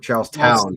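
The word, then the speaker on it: Charlestown: Is it Charleston or Charles Town? Town. Town. to make sure I can pronounce because I I never uh can pronounce Coridan.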